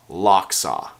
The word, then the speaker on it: Lochsa: locks our onesie and it is pronounced lock saw as in the lock saw River located in Idaho you'll find climb will